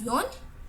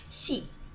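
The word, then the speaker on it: 四: In Japan, the number 4 can be read as yon or shi.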